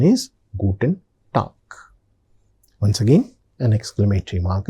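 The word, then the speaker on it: Guten Tag: So the pronunciation is gooden talk.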